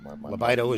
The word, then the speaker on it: Lobaido: Lobaido is the original pronunciation from back in Italy, but when it became here, it Americanized it to Lobaido.